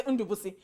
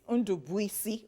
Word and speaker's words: Ndubuisi: You know when people say, they say Undubusi. But guess what? So when you see the spelling, it's quite different. You can't actually spell it like Undubusi. It's Undubuisi, like the spelling.